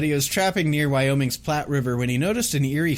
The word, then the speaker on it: Platte River: death ship of the i think it's pronounced platt river it's p-l-a-t-t-e so i'm gonna i'm gonna say platte river it's in wyoming so